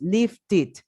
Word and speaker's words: lifted: Lift, sí, porque termina en T, entonces la pronunciación es lifted.